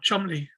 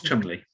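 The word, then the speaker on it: Cholmondeley: because i think absolutely the surname is difficult to pronounce oh chumley chubby that's it i need it it's it's spelt tommen's lily yeah but um it's chubbly charles chumley and he had the idea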